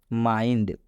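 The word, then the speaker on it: mind: मतलब होता है दिमाग यहां पर आई के बाद एनडी आ आप देख सकते हैं आई के बाद से एनडी आया हुआ है इसलिए आई का उच्चारण आई हुआ है इसलिए इस आई का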